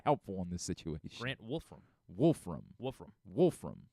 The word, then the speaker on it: Wolfram: Grant Wolfram. Great. Grant what? Wolfram. Wolf. Like, Wolf Ram. But Wolf or Woof? It's spelled Wolfram. So WOOF? No, Wolf.